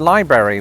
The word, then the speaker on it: library: Well, there's no getting away from the idea that the word library was somehow two syllables.